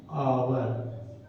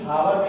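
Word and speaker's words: hour: एन आवर, फॉर एन आवर question mark. An आवर इसलिए क्योंकि हावर नहीं पढ़ते हैं, उसको आवर पढ़ते हैं, उच्चारण इसका आवर है, ठीक है।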